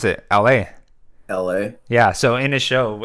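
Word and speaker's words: Elhae: saying LA yeah that's how you say you pronounce it la la yeah so in his show I saw him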